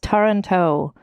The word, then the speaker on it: Taranto: Some of the relatives include Philip of Toronto, not Toronto, like Ontario, Canada, but I think it's pronounced Taranto. It's like Toronto, but with A's.